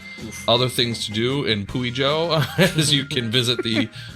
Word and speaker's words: Puijo: Is there a We way need- that we could look it up to see how that is actually pronounced? Puijo. Puyo? Puijo? Puijo. It's Puijo.